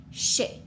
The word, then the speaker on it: chercher: chercher. Okay? If we had a word like chercher, we have two syllables. We have char and she.